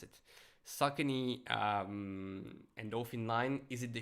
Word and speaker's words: Saucony: Now I know how to pronounce it. Saucony Endorphin line.